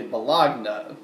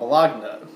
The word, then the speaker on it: bologna: bologa some people say bologna or bologna but the G I think is apparently silent when it's when it's pronounced I used to call it bagna but I come to